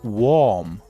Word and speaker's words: warm: No it's warm or in warm the a r is the same pronunciation as o r the word o.